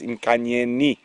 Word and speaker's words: Nkanyeni: So it is with the I. I have been incorrect. I do apologize. It is Nkanyeni.